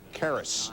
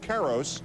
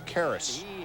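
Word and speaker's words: Karros: pods at chavez ravine it's eric karas it's spelled carros it's karis and he reminds you about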